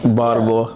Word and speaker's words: Baltimore: Baltimore.